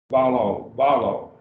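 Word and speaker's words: βάλλω: Balo. So we have actually two syllables. Now, remember the rule, we would break it between the two lambdas, balo.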